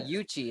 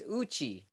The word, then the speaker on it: Uchi: it incorrectly I say yuchi it's Uchi Uchi so I'm actually pronouncing it like an English way the Japanese pronunciation is Uchi okay and there's a